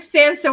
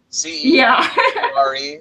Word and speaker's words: censure: But the word censor, we actually thought was, at least when I first read it to Scott, he thought it was censor, but it actually censor. In other words, It's spelled differently. Well. C-E-N-S-U-R-E, C-E-N-S-U-R-E, censure. It's C-E-N-S-U-R-E. Yeah, censure. Yeah.